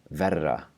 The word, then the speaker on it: verra: So in this word, verra, which means worse. So compare these two words. We have the word to be on top, vera, and notice how there's a long vowel and then just the single tap for the R, vera, and then we have the word for worse, verra.